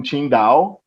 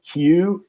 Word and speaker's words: Qingdao: First year, I was in Qingdao. It's spelled Qingdao, Qingdao.